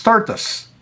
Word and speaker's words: tortoise: tortoise property hold on apparently it's tortus t-o-r-t-u-h-s well that's how you pronounce it but anyway turtles